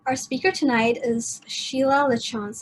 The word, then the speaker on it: Lachance: speaker tonight is sheila lachance am i pronouncing your name right it's a lachanze lachance okay um originating from the